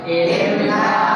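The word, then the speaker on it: إِنَّا: Inna a'tainaka al-kautsar fasholli li rabbika wanhar inna syani'aka huwal abtar. Ini bacanya inna panjangnya mad apa? Mad tadi. Ya, jadi panjang ya, jangan pendek.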